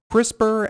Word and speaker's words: CRISPR: very good thing to be resistant to HIV CRISPR as a technology just so everyone isn't you